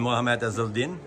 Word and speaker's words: Mohamed Ezeldin: Hi, I'm here again with Joe Farren and Mohamed Ezeldin, correct? Absolutely, well pronounced.